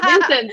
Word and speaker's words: Vincent: I say Vincent, but he's German, so he's not pronouncing it. Vincent.